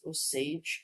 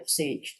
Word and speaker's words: Osage: I think they pronounce it Osage. I'm not sure if that's correct. I know there's a movie about them. Well, let's get it Osage Nation.